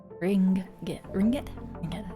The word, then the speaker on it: ringgit: Ringgit. Something like that. Oh, hold on. This is another thing. How to pronounce?